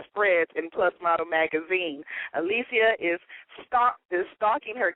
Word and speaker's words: Alicia: working she a lot of fun let's welcome Alisia to hey are you there yes I'm here now am I pronouncing your name right because you you gave